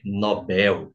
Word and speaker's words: Nobel: ele vai falar que é Nobel não é Nobel é Nobel Ok em português a pronúncia Nobel só sobra pra gente ali subsídio